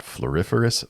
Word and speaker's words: floriferous: its name we've got floriferous Vine wall I think that what makes this card so fun to say is it's so close to Superfluous another great English word